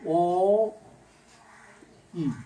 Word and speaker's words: ঐ: এটা উচ্চারণটা বেলায় দুইটা আসলে এই ওই আর ও দেখলে বুঝবা, ওই ওই যে বর্ণটা এইটার উচ্চারণ হল অ ই, ওই।